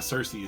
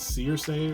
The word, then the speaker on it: Circe: Apparently, the way they say her name, it's not Cersei, it's Circe or something like that.